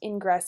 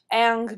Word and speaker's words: Ingres: By the way, his name is not pronounced Ingress, it is Ang. Ang becomes the new official